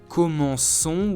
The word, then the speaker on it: commençons: Therefore, we write it commençons with the CCD to indicate that the C still needs to be pronounced S, although in front of the letter O.